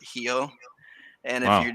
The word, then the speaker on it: Rio: an r like rio everybody says rio but here they pronounce it heal and if you're not